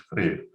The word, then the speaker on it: Freer: Freer, you spell it like Freer, but I suppose it's Freer.